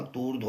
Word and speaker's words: रक्षन्तूर्ध्वमधोऽपि: रक्षन्तूर्ध्वमधोऽपि वा रक्षन्तूर्ध्वमधोऽपि वा तूर्ध्व नहीं होगा ना, तूर्ध्व होगा, बड़ा तू है तो बड़े शब्द का बड़ा ही उच्चारण, दीर्घ शब्द का दीर्घ उच्चारण है।